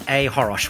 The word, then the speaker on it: choros: I'm at Ahorosh, which is CHOROS. The C is silent.